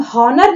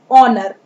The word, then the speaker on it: honour: First letter is H, लेकिन यहाँ हम हॉनर नहीं पढ़ेंगे, हम इसे पढ़ेंगे ऑनर।